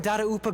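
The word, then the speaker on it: Dadaupa: are still right here in monstat over in darupa Gorge I keep forgetting that's how you pronounce that data UPA since you guys are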